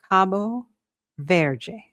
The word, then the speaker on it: Cabo Verde: And our first match is Spain versus Cabo Verde, which is how you say it in Portuguese.